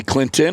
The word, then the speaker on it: Clinton: You say Clinton or Clinton? I would have to think about that one. Clinton. Clinton. Clinton. Clinton. You don't pronounce the T.